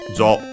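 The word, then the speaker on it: 場: Jo, u, so long o. And yeah, it's actually a syllable, so yeah, when it's accented on the first mora, so at the very beginning, that it's high, low technically.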